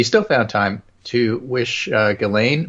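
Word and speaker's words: Ghislaine: found time to wish ghilane max well apparently the S is silent just you know oh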